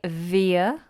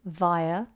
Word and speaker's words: via: English to American English a lot of Americans will say via with an e sound of veer we say a vai via and a lot of